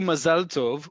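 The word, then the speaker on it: מזל טוב: It's just how you say it. It's the sing-song that you add to the word versus the emphasis, because again, Mazal Tov. I'm not going to pronounce the other way. You know the other way. That is not how we pronounce it in modern Hebrew in Israel. Full stop.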